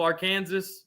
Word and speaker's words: Arkansas: out with the cross it's Arkansas I know I know we're being we're being funny we're being fous Lane this one I pronounced on purpose wrong it's a southern thing from the south you you know we call it AR Kansas that one lane